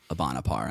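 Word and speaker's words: Bande à part: a part which is a play on how it's uh pronounced in french ibanapar i believe yeah but there there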